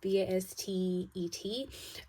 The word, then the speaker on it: Bastet: Some of you may also be dreaming about cats, and I think I said this about I think it's Bastet, I think is how you say it, Bastet.